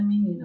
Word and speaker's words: menina: Vamos ver mais uma palavra. Menina. Ó, se eu falar, não percebo. Menina, menina, menina. Vou chamar. Menina. Eu percebo que o ni é a sílaba mais forte também da palavra.